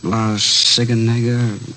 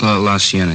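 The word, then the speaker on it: La Cienega: Uh Las Sigenega. Is that how you say it? La Sienna. Yeah.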